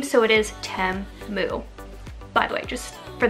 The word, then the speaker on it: Temu: they did um like show me how to pronounce the name so it is Tim moo by the way just for those of you